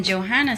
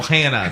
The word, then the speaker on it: Johanna: And then Johanna Santana says, Johanna. I don't know that. Johanna. Johanna. No Hannah. No. It's a silent H. If you pronounce the H, she will Joanna. stab you.